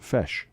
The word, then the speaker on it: feis: dresses and stuff uh pajano says it's pronounced fresh fresh i don't know he just wrote fesh yeah so i'm assuming it's pronounced fesh those irish the ancient